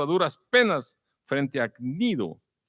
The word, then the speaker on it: Cnido: duras penas frente a Cnido. No Nido, tiene que pronunciar la G antes, Nido, porque nos impedía